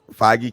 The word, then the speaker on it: Feige: Feige, Kevin Feige, Yeah, yeah.